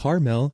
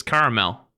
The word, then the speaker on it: caramel: Caramel. If you say it with 2 syllables like caramel, then you're likely from the Midwest or some parts of the West.